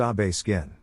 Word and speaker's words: Obeskin: I don't remember much about details of the conversation except that it was a friendly one and his name was Obeskin, pronounced Abe Skin.